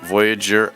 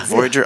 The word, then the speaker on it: Voyageur: We have great guests here, Steve Furlong with Mortgages Unlimited, Jack Lee, Voyageur Outward Bound School, and Daniel Paley, who is an agent with Remax with us as well.